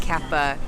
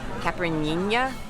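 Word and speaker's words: caipirinha: yeah foreign ER watched I tried to pronounce it I said Kappa and he went it started some working he's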